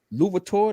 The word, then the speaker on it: Louverture: He's named after Toussaint Louverture. That's how you pronounce his last name.